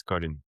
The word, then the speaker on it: Colin: That's my first name and my last name is Colin.